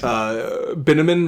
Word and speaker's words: Binneman: But her new man's Binneman rhymes with cinnamon.